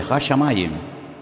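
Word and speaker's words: השמים: Hashamayim.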